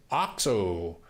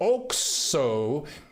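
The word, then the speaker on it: Oxxo: Oxo is pronounced Ojo, isn't it?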